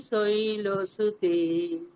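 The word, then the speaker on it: শৈলসুতে: মাথায় রাখতে হবে যে ওই অকারটা যেন ওকারের কাছাকাছি না হয়ে যায়।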